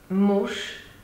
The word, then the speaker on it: muž: Pán with a hard consonant N and muž with a soft consonant Ž. Even if you pronounce Sh, we can hear Sh.